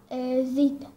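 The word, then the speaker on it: ⲍⲏⲧⲁ: الحرف الرابع زيتا بيتنطق زين.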